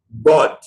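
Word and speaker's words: ضاد: We use the side of the tongue here and here for pronouncing 2 basic letters. Now, these letters, one of them is bod.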